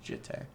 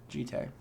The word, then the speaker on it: Jitte: Alright, Japanese pronunciation is Jitte. The E sound is like the end in anime. Okay. Thank you, Biopovar, I guess? Jitte.